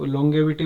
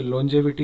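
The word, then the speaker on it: longevity: Next है हमारे पास में, इसको आप लॉन्गेविटी बोल सकते हैं, वैसे इसका प्रोनाउंसिएशन मेरे हिसाब से लॉन्जेविटी होनी चाहिए।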